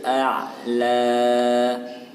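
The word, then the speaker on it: أَعْلَى: Wa huwa bil ufuqil a'la. Wa huwa bil ufuqi. Qai, huruf qaf harus jelas. Qai. Ufuqi, bukan ufuqi, tapi ufuqi. Ufuqil a'la. Di sini ada ain sukun, maka harus jelas pengucapannya.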